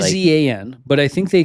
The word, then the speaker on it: Izan: And then Ivan Guevara, sorry. Izan. I feel like they pronounce it as Ivan, though, whenever I hear him on TV.